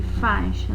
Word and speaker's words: faixa: do nós temos aqui faixa né escreve-se com x mas tem som de ch né a gente vai registrar